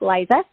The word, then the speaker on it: Lisa: And so my name is Lisa, spelled like Liza, Lisa.